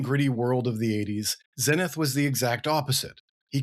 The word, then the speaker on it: Zenith: is a British character, I'm going to use British pronunciation, so it's Zenith, not Zenith. Hope that's not too confusing for everybody, but it's kind of a tomato-tomato thing.